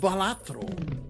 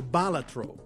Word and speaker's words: Balatro: it the thing with balatro or balatro I've heard it pronounced both ways the internet told me that it's correct both ways the ancient Latin pronunciation is balatro permanently gain one discard